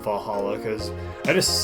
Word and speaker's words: VA-11 Hall-A: called va- Hall d a good thing it's actually called Valhalla cuz I just say